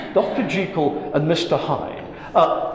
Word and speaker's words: Jekyll: in into the culture dr jekyll was supposedly pronounced dr jekyll dr jekyll and mr hyde uh